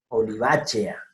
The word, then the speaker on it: olivacea: Y ojo, E con A, E-A. No es A con E lo que está aquí, que sería E. Es E con A, entonces por tanto, olivacea.